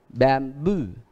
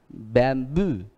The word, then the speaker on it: bamboo: nhấn ở chính nó, ví dụ đuôi âu âu, ví dụ như đuôi âu âu, được nhấn chính nó, tức là đây, đây là đuôi và nhấn chính nó, thì các bạn thấy rõ.